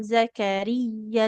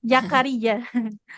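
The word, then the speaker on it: زَكَرِيَّا: Kemudian, huruf zainya nggak boleh jadi ya ya. Bukan Jakaria.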